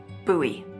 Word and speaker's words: Bowie: Bowie. It's actually pronounced Bowie. What? No, it's like the last name, like David Bowie.